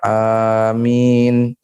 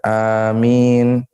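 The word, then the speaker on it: آمين: Mengeraskan bacaan amin, ya, bacanya panjang, amin, bukan amin, ya, bacanya dipanjangkan, amin.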